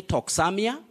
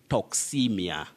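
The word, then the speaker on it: toxaemia: blood by harmful bacteria you don't say toxamia don't say toxemia that a and e the two letters that is a and e in the middle of this word they combine and represent the long vowel sound e so you say toxemia toxemia and from that point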